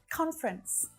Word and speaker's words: conference: So again, if this word is similar in your native language, you might be used to pronouncing that extra syllable in there. Conference. The little schwa. But in naturally spoken English, conference is much more common.